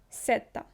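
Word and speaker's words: Z: ні ні Іса ікса сета в шведській мові не існує звуку з як в українській мові тому всі слова в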